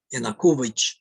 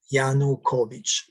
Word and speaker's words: Yanukovych: democratic letter parliament of ukraine voted to remove enakovic yana kuvich who was um um a mispronounced gianna yanukovich who was uh the pro-russian president of ukraine